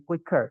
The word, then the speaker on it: quick: quick juga sama sih quicker teman-teman gitu ya karena dia bacanya bukan Kik tapi quick dibacanya cepat seperti itu atau eh u sama i-nya itu dianggap satu suara gitu teman-teman Jadi bukan belokan